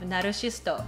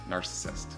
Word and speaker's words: narcissist: narcissist yes narcissist narcissist so the english pronunciation of naroshisto is narcissist narcissist narcissist all right let's go